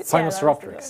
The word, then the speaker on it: Sinosauropteryx: And so Sinosauropteryx, right? Sinosauropteryx. Yeah, yes, thank you. They are tough to pronounce.